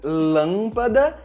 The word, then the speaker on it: lâmpada: Com o acento circunflexo e com o til, a letra A fica com um som nasal, como por exemplo nas palavras lâmpada e avião.